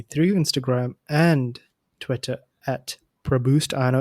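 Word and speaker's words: Praboost: instagram and twitter at pro boost i know it's a weird name but it's pronounced produced p-r-a-b-o-o-s-t until next time keep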